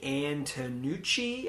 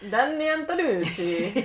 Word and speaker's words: Antonucci: So, Eden and Netti is created by a guy named Danny Antonucci, I think is how you say that. Danuchi, he's Canadian, I think.